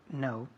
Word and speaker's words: know: Know. To know. Muy To bien, know. to know. Igual que no. No quiero. No. To know, no. La pronunciación es igual, aunque tiene una K.